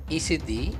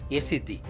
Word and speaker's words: Yazidi: I will start with the very name Yasiddhi. It is pronounced variedly as Isiddhi, Yasadan, Yesiddhi. The original spelling and pronunciation was Ya plus Siddhi, Yasiddhi, Yaziddhi.